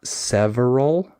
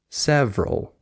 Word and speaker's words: several: to fix just don't say the middle syllable it's just family like it's not several it's several you just skip the syllable so if someone points